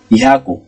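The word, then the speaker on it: 百: মানে ভূমি দোয়োবি স্যাটারডে শনিবার দোয়োবি দোয়োবি শনিবার ইহাকু ইহাকু হান্ড্রেড ইহাকু হান্ড্রেড এটা ইহাকুর কাঞ্জি এর একটাই উচ্চারণ আছে অনিয়মি এটা অর্থাৎ জাপানিজে নিজস্ব কাঞ্জি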